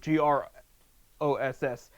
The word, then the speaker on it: Groce: said gross, like, ew, GROSS. And a female Akron fan commenter said, no, it's spelled gross, GROCE. And that, as John Gross, the coach, that was the best comment.